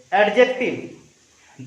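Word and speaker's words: adjective: आ गोटे अछि 5 नंबर रे, सेटा अछि एटा एटा कोन पढिबो पिला माने ए डी जे ई सी टी आई बी एडजेक्टिव that is नॉट एडजेक्टिव in this word D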